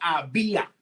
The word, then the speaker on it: había: el Departamento del Trabajo había, con acento en la I y es un diptongo que termina en A.